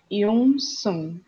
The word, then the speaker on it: Eunseong: só uma correçãozinha, o nome do cantor é Yun Sun. Vamos só. É. Eu vou tentar pronunciar.